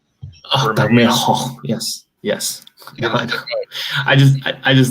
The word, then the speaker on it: Bermejo: Bermejo. Oh, Bermejo.